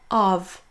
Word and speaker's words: of: Lorsqu'on on prononce seul, ce sera la forme forte, on prononcera of. Mais l'immense majeure partie du temps, ce sera dans une phrase et on va donc prononcer la forme faible. Là, ce seront ce sera un son choix, donc le léger E suivi d'un V.